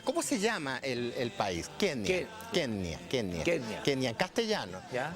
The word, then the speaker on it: Kenya: Y curiosamente el dígrafo NY en swahili se pronuncia ñ. Por lo tanto, en su lengua natal es Kenia.